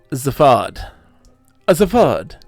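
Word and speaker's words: Zaphod: molecular hyperwave pincer i nick his name is pronounced zafad as a vod like a tattoo don't save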